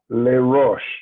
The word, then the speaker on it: Les Roches: Next up is Les Roches.